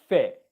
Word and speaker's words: fit: In 2 words, feet, fit, feet, fit, feet, fit, feet, fit, feet, fit, feet, fit.